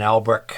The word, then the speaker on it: Albrecht: This is it's a knockoff of an Albrick. It's a Lambrick. So Albrecht is spelled A-L-B-R-E-C-H-T, and this is spelled L-A-M-B-R-I-C-H, Lambrick.